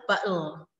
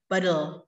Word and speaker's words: bottle: Jadi ada tiga versi pronunciation battle, tapi tidak dituliskan di dictionary. Yang kedua adalah battle, battle. Jadi teh di tengah itu hilang, jadinya battle. Kemudian yang ketiga adalah battle, battle. Jadi teh menjadi deh.